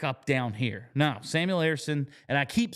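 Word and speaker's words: Ersson: up here back up down here now Samuel Arison and I keep saying his name because I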